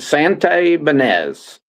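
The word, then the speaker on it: Santibañez: Yeah, you pronounce it Santi Banez.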